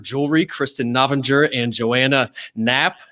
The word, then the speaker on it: Knapp: Okay, so it's Knapp. K is silent and maiden name is Carrier.